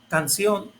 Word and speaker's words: canción: Canción, corazón y alemán. Aquí, como puedes darte cuenta, termina en consonante N y como dice ahí, palabras que terminen en consonante N lleva acento en la última vocal o última sílaba y